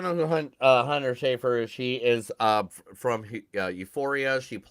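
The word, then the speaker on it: Schafer: I don't know how to pronounce her last name correctly. Brown. Hunter Schaefer. Is it Schaefer? Yeah, Schaefer.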